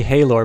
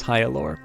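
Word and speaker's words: Hyalor: deny uh hyaluro's divinity i keep wanting to say halor but there's actually pronunciation for this one uh in the manual so i believe it is hyalure uh we in the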